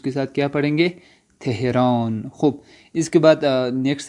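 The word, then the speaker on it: تهران: تو تہران کو خود جو ایرانی ہے وہ کیا پڑھیں گے, تھے کے ساتھ پڑھیں گے, تہران, تہران پڑھیں گے.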